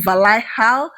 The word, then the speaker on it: Valhalla: Rayhaan Legion Valaha, I think that is how it's pronounced.